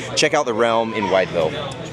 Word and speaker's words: Wytheville: But it is pronounced Wytheville.